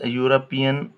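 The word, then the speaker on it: European: जैसे हम पढ़ेंगे भाई you when they sound like you such as यूरोपियन a union अब देखिए यहां पर जो साउंड यू दे रहा है ना प्रोड्यूस कर रहा है वह ये का प्रोड्यूस कर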